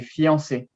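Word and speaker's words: fiancée: male is the male so are they pronounced the same they're pronounced completely the same so the extra e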